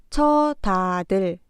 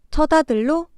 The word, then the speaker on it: 첫아들: 마찬가지로 첫 아들, 첫 번째 글자 첫의 받침 시옷이 디귿으로 발음되고 그렇게 바뀐 글자는 처다들, 처다들로 발음합니다.